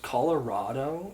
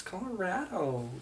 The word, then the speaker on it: Colorado: And everyone will be like, isn't it pronounced Colorado? Like, it can be, but it's not. It's Colorado. Stop it.